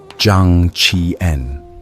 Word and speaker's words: Zhang Qian: His name was Zhang Qian, pronounced Zhang Qi-en.